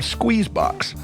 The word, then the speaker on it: SQZBX: Smith, owners, operators of SQZBX. Pronounced like all the letters are in there, but it's spelled SQZBX.